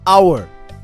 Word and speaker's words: hour: such words for example in the word hour the H is silent it begins with a vowel sound ah so we use